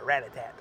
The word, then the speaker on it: Rattata: I got a Rattata. That's how you pronounce it.